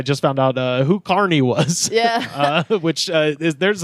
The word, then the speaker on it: Kearny: I say it correctly no it's Carney like like carival FK you're from kizar yeah okay it's Carney all right you know